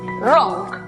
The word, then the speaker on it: wrong: La palabra equivocado, por ejemplo, que se escribe, notamos que hay W antes de R al comienzo de la palabra, por lo tanto es muda. Además, es una sílaba cerrada, por lo tanto aplicamos el sonido cerrado de la O. La pronunciación para la palabra equivocado entonces es wrong.